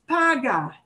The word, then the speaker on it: paga: gets the punch but the verb itself is paga and right and paga punches that paw side and once i'm i